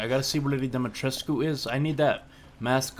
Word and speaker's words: Dimitrescu: Alright, I gotta see where Lady Dimitrescu is.